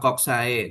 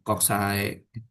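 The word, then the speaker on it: coxae: Atau kalau nanti kamu diajarin sama dosen-dosen yang lain itu mereka kan membacanya ini adalah kokse gitu kan ya. Enggak apa-apa. He itu istilah latin yang diinggriskan karena orang Inggris nyebutnya ini koks itu ya.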